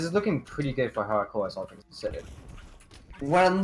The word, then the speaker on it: Halichoeres: Halichoeres, that's how you say it.